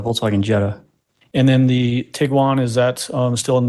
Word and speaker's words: Tiguan: uh Jetta and there's the Tigo one you've picked up the Tiguan pronunciation now too that motion that